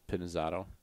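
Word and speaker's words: Pinizzotto: jesus how do you say nick's last name pinazzotto pinizato yep yeah he's not italian is he yeah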